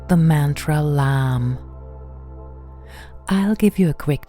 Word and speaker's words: LAM: with the Bija mantra LAM. Only one syllable from the three letters L, A, and M. We breathe in deeply and gently, and with the beginning of the exhalation, we sound the mantra LAM.